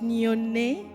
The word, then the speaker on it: Nione: On prononce Nyone parce que c'est un mot swahili, qui est la langue qu'on parle au Kenya.